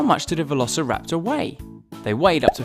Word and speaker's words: Velociraptor: Tyrannosaurus Rex let's learn all about Velociraptor Y how do you say that again V Lo rapor sometimes they were just called Raptors Velociraptors were